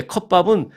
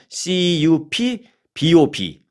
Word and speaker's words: CUPBOP: 유타 그리고 이제 컵밥은 한국식 발음으로 영어를 썼어요. CUPBOP, CUPBOP, 컵밥 이렇게 그래서 유타 컵밥이라는 이름으로 유명해졌습니다.